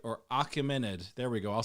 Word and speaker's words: Achaemenid: It's also called the Achaemenid, right? Or Achaemenid.